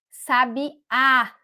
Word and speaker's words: sabiá: Eu estou dando a tônica na última sílaba, sabiá.